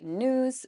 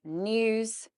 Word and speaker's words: news: So for example, you guys would say news, we would say news, nya, news. We would also say during with the y, during, dia, during, whereas you guys would say during.